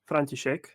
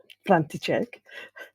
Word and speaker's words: František: Yes, so my actual name is František. František. Yes, very well pronounced. By the way, thank you for having me. You're welcome. Thank you for You're welcome. inviting me on this podcast. I'm just diving in straight away. Yeah. As I mentioned to you, it's my first, so Yeah. it's exciting for me too. Yeah, it's pronounced František, and I found a lot of English speakers struggled with pronouncing that.